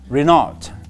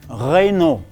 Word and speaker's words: Renault: And we have another brand, and I often hear people say Renault, and it is called Renault.